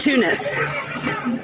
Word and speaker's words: Tunas: a town near us it's spelled like tuna with an S Tunas but it's pronounced Tunis forg I picked your